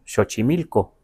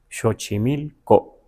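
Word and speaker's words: Xochimilco: pues se llama shochimilco, pero no lo pronunciamos shochimilco, sino shochimilco, ¿verdad?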